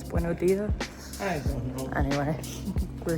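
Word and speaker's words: Buenos días: We don't pronounce the S. Buenos dias.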